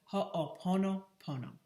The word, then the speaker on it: ho'oponopono: tell you about a hawaiian forgiveness technique called ho'oponopono it's spelled h o apostrophe o p o n